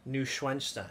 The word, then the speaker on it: Neuschwanstein: Neuschwanstein.